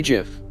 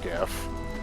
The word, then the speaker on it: GIF: fine for animated, but Is that a hard or soft G? I can't make it out. that is well, it's supposed to be a hard G, for GIF, but I don't know.